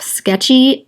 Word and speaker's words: Sktchy: have, and I use the app Sketchy. It's spelled S-K-T-C-H-Y.